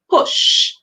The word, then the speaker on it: push: Here the U is making that O sound like. So we hear p, o, sh, p, o, sh, push. And we know S and H together. Whenever they come like that, the S then the H, we're going to hear sh. And that sound, it's a very sharp sound. So we hear sh.